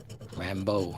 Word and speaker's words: Rambeau: How do you pronounce it? Rambeau.